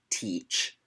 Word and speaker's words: Teach: pronounced hatch but it's spelled te ACH like I am going to teach you this today um and I mean like what nationality was Blackbeard British I believe so might not be the same pronunciation pretty sure it's teach and also their American